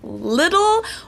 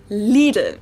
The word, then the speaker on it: Lidl: Most Americans I know say something like Lidl, while the correct German pronunciation is Lidl. It might be a little hard to say, but I think it helps to know that both of the L sounds are light L's that you pronounce with the top of your tongue.